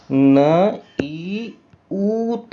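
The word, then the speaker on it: niwt: लेकिन अगर ये इस रूप में दिखाई दे तो इसका फिर इसको प्रोनाउंस करना पड़ता है तो इसको बोलते हैं न ई ऊत बोलते हैं नई ऊत बोलते हैं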